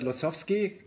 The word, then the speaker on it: Losowsky: it's not lost but losovsky the way that we would pronounce it in germany you're the head developer